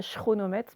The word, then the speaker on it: chronomètre: On ne dit pas chronomètre, mais ça s'écrit chronomètre parce que c'est un nom d'origine grecque.